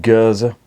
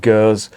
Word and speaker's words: Gueuze: you're French it's pronounced Gaza or you if you're sorry if you're French speaking it's pronounced girls if you're Flemish or living in the Flemish prevent it's pronounced huza and I've had this